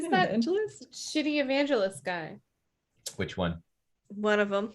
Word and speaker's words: Guy: It's pronounced Guy.